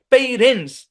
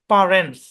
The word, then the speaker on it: parents: Originally এই শব্দের উচ্চারণ হচ্ছে পারেন্টস, পা। এটার উচ্চারণ পেই না, পা, পা, পা, মানে সোয়া সাউন্ড দিয়ে।